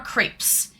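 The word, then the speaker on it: crêpe: They are crepes. Yes, but how do we pronounce it? Crepes or creps? It's a French word. It's a French word and the French pronounce it crepe.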